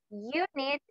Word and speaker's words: unit: European, unit, union, ¿ok? Aunque comiencen con una vocal, el sonido o la pronunciación es con una consonante.